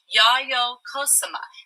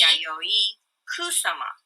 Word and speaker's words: Yayoi Kusama: ahead of time, but I say it as Yayoi Kusama. Now, how would you say it, Miss Kane? Yayoi. Yayoi. Yayoi Kusama.